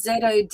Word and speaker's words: Zodiaque: I'm not sure how to pronounce it. It's Zodiaque.